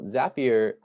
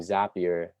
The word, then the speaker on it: Zapier: new thing, Zapier, and a lot of people call it Zapier, but I'm here to debunk that pronunciation because when you talk to the Zapier tech people, and if you read their like blogs, it's called a Zap.